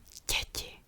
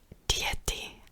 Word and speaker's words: dzieci: Dzieci. Dzieci, this means children. I'm not saying dieti. A lot of foreign people who are learning Czech make the mistake. It's je, dzieci. It's one syllable.